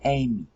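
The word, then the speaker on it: εἰμί: Alright, now "ime" is the Erasmian pronunciation of it, and the Erasmian pronunciation is wrong. It should be "ame." Alright, the EI sound is an A in classical Greek, in the Bible Greek.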